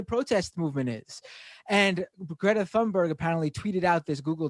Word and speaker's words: Thunberg: I think that's the actual pronunciation. And I used to say that in videos, and I'd get like messages, "It's Thunberg." I'm like, bitch, it's not.